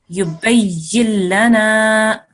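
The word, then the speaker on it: يبين لنا: Okay, so in this circumstance, you need to ignore the noon sound completely. Okay, so you will join this ya here straight to this lam here. Yubayyin lana.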